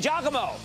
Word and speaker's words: Giacomo: Let's go to Giacomo in Michigan. Giacomo. Hey. You pronounce it right. Giacomo, G-I-A-C-O-M-O.